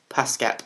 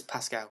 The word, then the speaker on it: Pascal: name again uh Pedro pascap you do that we'll we'll we'll go Pedro pascap all right see you guys bye can I just say I got the name wrong it's Pascal